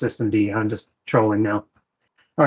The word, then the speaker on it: systemd: I know it's pronounced systemd.